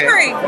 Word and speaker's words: Amery: Amery, did I pronounce it correctly? Amery? Yeah, okay. Amery.